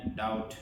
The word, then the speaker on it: doubt: ইবা DOUBT এর মধ্যে কি নামা দিব বি সাইলেন্ট বি নামা দিবে না ডাউট ডাউট মানে আরে কি হয় আন্দাসা আর মানুষ